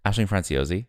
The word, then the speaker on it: Aisling Franciosi: How do you pronounce that name? Aisling Franciosi.